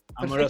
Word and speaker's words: Amorós: Porque me imagino que viviendo hace tanto tiempo en Nueva York, el tilde no se pronuncia, pero hay una tilde ahí en Amorós. Sí, no, perfecto. Amorós.